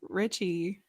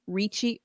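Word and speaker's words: Ricci: the christina richie or how do you say your last name richie what does she i think it's reachy technically but i think adams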